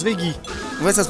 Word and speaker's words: Veggey: Ça se prononce Veggie.